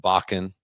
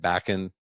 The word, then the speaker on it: Bakken: only Mr Elwood bachan I had to ask him how do you say your how do you say your last name because I knew him as Elwood and I was like oh his name is bachan could have said backing he said some people say bacon I'm like